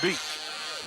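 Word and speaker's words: Bigalk: beat is that it the last name beat b i g a l k yep pronounced beat I'm going to throw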